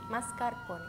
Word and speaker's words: mascarpone: ending like this okay try to say mascarpone with the r like do you hear how i said it right now more time mascara yes i can hear it but it's very fast yes it's just like a one roll okay mascara mascarpone your